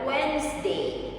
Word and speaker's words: Wednesday: Banyak orang masih mengucapkan Wednesday, tetapi cara yang benar untuk mengucapkannya sebenarnya adalah Wednesday. Wednesday. Huruf D sama sekali tidak dibaca.